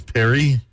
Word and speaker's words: Perrier: need to talk about there's an r at the end of it but that R is silent so it's Perry Perry Perry Perrier I think we're learning